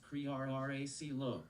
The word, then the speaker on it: Crearcillo: My name is pronounced Crearracilo.